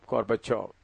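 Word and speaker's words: Gorbachev: ये ची भी लिखते हैं तो लेकिन प्रोनाउंस करते वक्त गोर्बाचोव।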